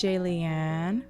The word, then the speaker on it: Jaliane: Hey, it's Jaliane, rhymes with alien.